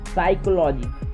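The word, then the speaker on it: psychology: साइकोलॉजी तो P silent हो गया।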